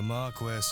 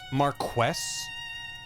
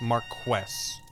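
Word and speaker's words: Marquess: the Marquest of Dune, lord of this manor and all the land that can be seen from it. Is it pron? It must be pronounced Marquest, not Marques. Marquest.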